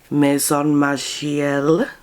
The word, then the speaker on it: Maison Margiela: but she, in 2017, did the most iconic Maison Margiela That's how to pronounce it, sorry.